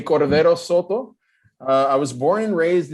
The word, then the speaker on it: Cordero Soto: Anyway, my name is Cordero Soto, if you say it with the very Anglican pronunciation. If you say it with my original hometown pronunciation, you would say Cordero Soto.